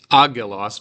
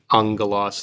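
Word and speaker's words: ἄγγελος: Now I didn't pronounce this agelos, but remember, 2 gammas next to each other makes an ng sound. Ha'angelos lege, not a ng, but a sort of a nasal G.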